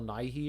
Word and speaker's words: Nighy: How do you pronounce that one guy's name? Bill Nighy or Bill something? Nighy.